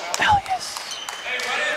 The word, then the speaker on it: Elias: No, I think about it as like a cologne, like Elias.